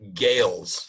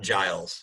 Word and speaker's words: Gales: it's Eric Gales, not Giles. So I Oh, did have it wrong. So I'm glad I looked it up. It's Eric Gales, Gales, and Joe Bonamassa. But yes, the A is silent.